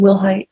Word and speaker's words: Wilhite: Am I pronouncing your last name correctly? Yes, ma'am. Will Height.